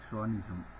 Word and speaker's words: chauvinism: What will show that a person will have a male chauvinism?